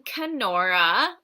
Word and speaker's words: Kenora: I am in Kenora, Ontario. From Kenora. That's nice. It rhymes with my name.